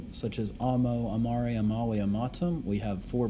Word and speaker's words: amare: Amare with the E is to love.